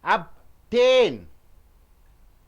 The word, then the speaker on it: obtain: there two up T how do you pronounce obtain obtain 10 should be stressed not up obtain gain obtained means